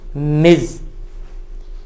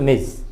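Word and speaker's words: Ms: तो इस क्रम में मैं बताना चाह रहा हूँ कि एक वर्ड है एमएस भी लिखते हैं हम लोग, इसका उच्चारण है, बोलते हैं इसको हम मिज।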